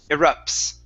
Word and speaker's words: erupts: Make sure to pronounce the T and the S instead of erupt only. Continue on with the S. Erupts.